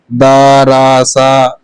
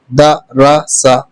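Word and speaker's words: دَرَسَ: کو روا پڑھتے ہیں۔ دراسا، یہ جلدی سے پڑھا جائے گا، ٹھیک ہے۔ داراسا ایسے نہیں پڑھا جائے گا، دراسا دراسا، ٹھیک ہے۔ دراسا، ودع، کبھی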